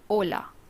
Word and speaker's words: hola: first word is Ola it is edge Ola wherein it is pronounced as Ola Ola the next word which